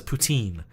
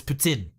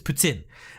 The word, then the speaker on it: poutine: same with like poutine everybody in the world says poutine but it's putin i think don't don't don't kill me supa patooka if i said it wrong but i think it's putin and but a lot